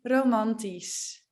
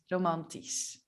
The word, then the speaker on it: romantisch: Like, for example, romantisch, logisch, praktisch, pragmatisch. Yeah, so at the beginning, it sounds like an attack, but at the end, it actually sounds like a normal S, romantisch.